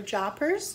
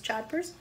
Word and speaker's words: jodhpurs: you notice it has a pronunciation thing for JA purrs jodhpurs but miss Marlee and